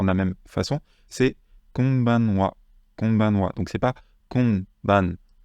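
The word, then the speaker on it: こんばんは: En fait, le deuxième, c'est pas vraiment en on, c'est plus en on. Alors, vous n'entendez pas forcément énormément la différence, je vais vous le refaire écouter par un natif. Konbanwa. Vous voyez, c'est pas konbanwa, c'est konbanwa, avec un on un petit peu, voilà, qui est vraiment dans le nez.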